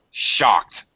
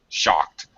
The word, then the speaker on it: shocked: pronounce the IDI okay shocked it's a one syllable word shocked committed committed alright it